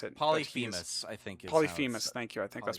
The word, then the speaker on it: Polyphemus: Polyphemus, I think, is how you pronounce it. Polyphemus, I think. Polyphemus, thank you.